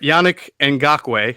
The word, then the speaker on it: Yannick Ngakoue: All right, Yannick Ngakoue, I think I pronounced that correctly.